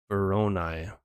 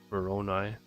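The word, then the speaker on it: Voronoi: me out Google here veronai with a short o sound like the O and or o and I always and veronai brown eye okay I think I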